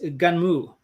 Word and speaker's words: Gunnm: It was Gunmu. And oh, right. Yeah, I said, where's the U? I don't know, but that's how you pronounce it.